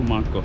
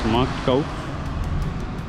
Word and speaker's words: Marktkauf: আমি এখন অলডিতে যাব, and then I'll go to Marktkauf. I did not pronounce it correctly. It's Marktkauf.